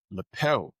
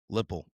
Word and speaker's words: Lippel: Hello, everybody, and welcome to another episode where we are interviewing Everett Lippel. Am I pronouncing your last name correct?